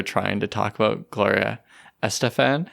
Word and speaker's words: Estefan: to talk about Gloria Estefan. She's like, no, it's Gloria Estefan. Yeah, because she's Guatemalan, correct? So let me try that again. Estefan. No, I'm sorry. You can't get the correct Spanish pronunciation.